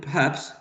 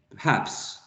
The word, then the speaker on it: perhaps: one perhaps perhaps perhaps the stressed syllable in perhaps is the second syllable perhaps and the first -